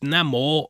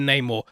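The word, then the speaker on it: Namor: of the clips that neymo Nemo will be pronounced Namo rather than Neymar and re-record the earlier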